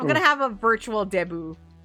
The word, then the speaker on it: debut: called a debut or it's spelled like debut but with the Filipino accent it's Debo but um so a